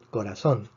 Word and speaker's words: corazón: yo voy a pronunciar la palabra corazón corazón el corazón tiene tres sílabas corazón termina nm esperamos que la fuerza esté en la penúltima sílaba pero está en la última sílaba por lo tanto que